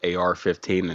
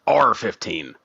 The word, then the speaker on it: AR-15: I'm just glad that we are both able to enlighten Billy that it's pronounced AR-15 and not just R-15.